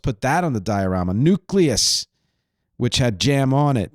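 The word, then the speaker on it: Newcleus: album I almost put that on the diarama nucleus which had jam on it that's spelled NE w cleu s by the way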